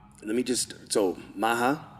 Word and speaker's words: Maha: Let me just, so Maha, right?